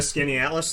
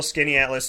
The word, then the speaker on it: Skaneateles: Is that a Skinny Atlas thing, or no?